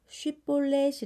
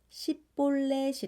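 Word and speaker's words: 쉽볼렛: 결국 싸움을 하게 됩니다 에브라임 사람들은 쉽 볼넷이 라는 발음을 하지 못했나 봐요 그래서 10 볼넷이 라고 발음하면 에브라임 사람 이라 하여 4만 2천 명이나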